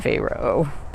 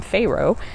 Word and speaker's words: Pharaoh: I always called him Pharaoh, and I looked it up, and they were right. It actually is Pharaoh.